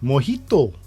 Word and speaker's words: mojito: which country is the origin of the cocktail mojito that's how you pronounce it uh which country is the origin